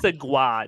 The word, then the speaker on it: segue: It's pronounced segwa.